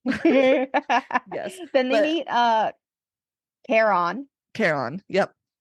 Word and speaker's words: Chiron: And so and with like a promise that they'll ask Hades for a raise for Kiron. Um for K. Kon. The audio book. Like Karen but on.